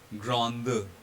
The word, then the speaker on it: grande: And because of this presence of E at the end of the word, this D here will be voiced and it will be pronounced as grande.